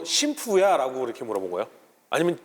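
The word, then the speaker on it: 神風: 신의 바람, 가미카제. 맞습니다. 네. 그래서 당시 일본에서는 사실 음독으로 신푸라고 불렀어요. 근데 이거를 나중에 이제 미국 언론에서는 훈독으로 읽어가지고 가미카제라고 읽었고, 그 뒤로는 이제 일반적으로 가미카제로 이걸 사람들이 부르기 시작을 했죠.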